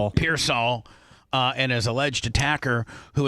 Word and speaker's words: Pearsall: How do you say his name? Pearsall.